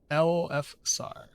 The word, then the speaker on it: Elfsar: Like Elisar, the Aragon, the Aragorn, but with an F. I got you. Okay. Elfsar.